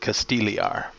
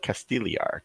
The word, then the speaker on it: Castigliar: casted Gil we are the G is silent Casteel er oh the G silent oh okay Port Castile er got it and then